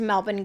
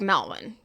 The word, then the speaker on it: Melbourne: I don't think it's a dox to say that I'm an East Melbourne girl.